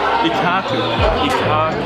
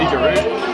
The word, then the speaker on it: Ikkaku: Ikkaku. Not Ikkaru. Ikkaru sounds like a Kangaroo Place.